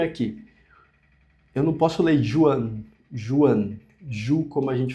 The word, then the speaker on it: Juan: Esse nome aqui eu não posso ler Juan. Juan Ju, como a gente falaria em português. Ju, Juliana. Então fica Juan. Juan fica esse R. Ru como rua. Juan.